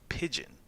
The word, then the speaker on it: pidgin: separate dialect that's called pidgin p-i-d-g-i-n it's pronounced the same way as the bird pigeon um it's a mix